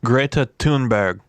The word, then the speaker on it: Greta Thunberg: First of all, her name I found out is Greta Thunberg. That's how you say it.